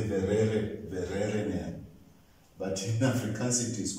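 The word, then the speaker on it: Vereeniging: But in Afrikaans, the letter V is pronounced as F. F. So when we went to South Africa and we're staying in a town called, in English you say Verere, Verereneer, but in Afrikaans it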